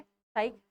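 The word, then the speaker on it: Psyche: ठीक है, तो क्या है, एस्टेरॉयड का नाम क्या है, साइक, एंड मिशन का नेम भी यही है। ये साइलेंट है, साइक इज द नेम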